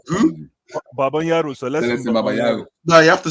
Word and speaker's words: Babayaro: that time Babanyaro was playing. Babanyaro was playing for us. Ah, I will Wait, never who? forget Who? that. Babanyaro, Celestin Celestin Babayaro.